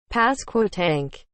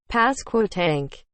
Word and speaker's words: Pasquotank: Pasquotank. Pasquotank. Pasquotank. Pasquotank.